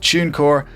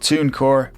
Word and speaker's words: TuneCore: your music on spotify yes i pronounce it tunecore and not tooncore because this is the way irish people speak now moving on this